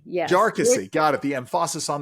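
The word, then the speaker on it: Jarkesy: interrupt this is the Jessi case if I'm pronouncing it correctly jarcy yes jarcy got it the empasis on the other salel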